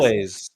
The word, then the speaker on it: Elwes: Is it Elwes? Carrie Elwes? Elways. Elways, Carrie thank you.